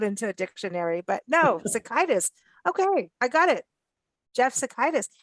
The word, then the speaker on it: Sitaikis: He pronounces it Sitaikis. Sitaikis. Okay. Sitaikis.